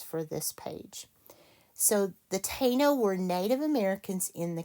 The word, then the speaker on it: Taino: It is pronounced Tay with a long A, Taino.